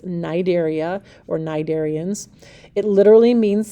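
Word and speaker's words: Cnidaria: is um the Nigerians that c is silent and then it's pronounced with a long I so it's nidaria or narian it literally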